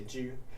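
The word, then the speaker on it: 車: can see this, but it says ju, it's pronounced ju, but you might have noticed that this character is just the traditional variant of che, meaning car. And you'd be right, but we don't say che in xiangqi, we say ju.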